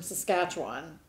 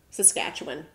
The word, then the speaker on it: Saskatchewan: And the one that I remember the most, other than the ones that we say, is a one from Saskatchewan. Saskatchewan.